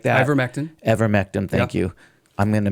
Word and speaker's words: ivermectin: Invectamine and all these other ones like that. Ivermectin, thank you.